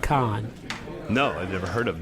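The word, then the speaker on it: Kahan: k a h an but it's pronounced Khan no I've never heard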